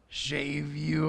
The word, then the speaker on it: Shavuot: feast i believe it was the feast of shave you uh is that how you say it s h a v u o t maybe it's shavuot anyway they call it pentecost